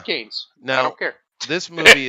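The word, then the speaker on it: Cannes: uh it's called can it's pronounced cans by the way it's French you know how they are um uh but I don't respect French it's kan's I don't care this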